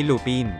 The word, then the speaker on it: Lupin: magnanakaw na si Lupin ang bigkas natin sa pangalan na Lupin ay Lupin pero sa mga French ay lupan ang bigkas dito kaya sakto ito sa